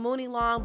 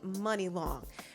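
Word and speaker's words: Munilong: name is money long it's actually spelled like mooney long m-u-n-i-l-o-n-g i used to think it was called mooney long but it's actually money long now money long has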